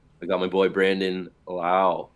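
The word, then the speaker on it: Lowe: I got my boy Brandon Lau. Not Low. Lau.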